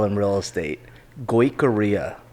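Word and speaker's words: Goicouria: hardest last name to spell in real estate korea korea yeah go away korea learn how to spell that at the start was experience g-o-i-c-o-u-r-i-a okay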